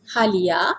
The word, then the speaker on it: halia: system would be ginger ginger in Malay is halia this is for pronunciation and informal pronunciation who beat Holly I